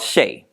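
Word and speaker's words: Shai: fertile feel um that the ancestors is called Shea and it's spelled s-h-a-i but they said that you are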